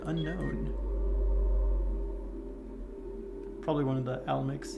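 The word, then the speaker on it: Alimbic: Is it Almix or Alemix? I've been saying Almix for the longest time, but replaying this recently, I've been thinking I've been saying it wrong, and it's actually the Alemix. Yeah, Alemix, maybe.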